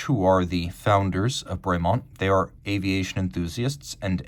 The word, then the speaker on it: Bremont: I guess if you want to be precise, it would be Bremont, but Bremont is the anglicized pronunciation, and I did ask them about that.